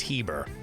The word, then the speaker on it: Heber: why you call me Herbert? I was like, oh, silent R. I thought I was an idiot. So if you hear me say Herber, I'm an ass, I said it wrong. It's Heber.